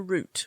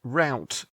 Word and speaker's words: root: Would this be pronounced route in American English? No, it's not that kind of root. Root like a tree root. Oh, okay. Not a canal route. No. Not like a delivery route.